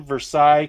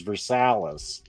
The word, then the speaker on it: Versailles: Sheridan, Versailles, Kentucky, USA. And I'm saying it wrong. I think the actual Kentucky pronunciation is Versailles.